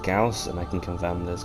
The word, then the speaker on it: Gauss: um now i understand most people call them gauze or goss for some reason i've heard that one before um but it's actually pronounced gauss and i can confirm this because one it